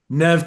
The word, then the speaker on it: Neve: Now, I never know how to pronounce Neve, whether it's supposed to be Neve or Neve, just Neve, right? Just Nev.